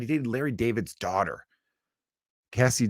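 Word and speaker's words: Cazzie: dated Larry David's daughter Cassie David or Casey David c-a-z-i-e I think Cassie's how you pronounce it um then it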